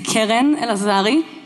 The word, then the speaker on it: Keren Elazari: My name is Keren Elazari. That is how you pronounce it.